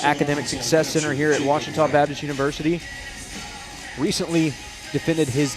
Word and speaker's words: Ouachita: Back in Texas, everybody pronounces it Wichita, but really, it's Washita. Washita.